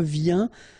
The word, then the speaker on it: viens: Je viens. Final S not pronounced, okay?